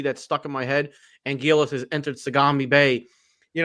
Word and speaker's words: Anguirus: I became, you know, I say Angurus now. So, Angurus for me. How about you, Nick? I'm actually gonna be in the uh odd ballpark here. I I actually like Angilis uh just with the L because yeah, you still have your your your the Japanese R turning into the L.